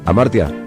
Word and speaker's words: Hamartia: Amartya se escribe con H.